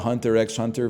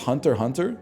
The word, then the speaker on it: Hunter x Hunter: I've been calling it Hunter x Hunter for years, man. It's pronounced Hunter Hunter?